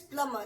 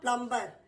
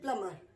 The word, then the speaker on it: plumber: The pronunciation is plumber. It is not plumber.